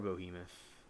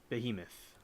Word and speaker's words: Behemoth: you think you are boohemoth Behemoth rather that's how you say it take cover for comfort